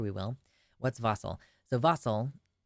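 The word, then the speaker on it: wassail: again I'm sure we will what's vossel so vossel it's pronounced or sorry it's spelled vasel w SS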